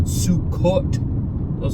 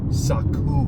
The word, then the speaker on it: Sukkot: It's not Sukkot. That's not even the proper spelling or pronunciation of the feast. Saku.